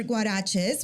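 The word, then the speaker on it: Guarexez: so you started store guaraches which is spelled g-u-a-r-e-x-e-z which by the way the x is a CH sound yeah which by the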